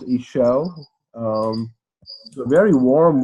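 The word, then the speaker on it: Işıl: zoom in, and so her name is pronounced Ishel.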